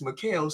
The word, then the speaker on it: Mikal: How the fuck you pronounce his name? Isn't it Bridges? Mikal Bridges. Yeah, Mikal Bridges. Yeah. My boy said Michael Bridges.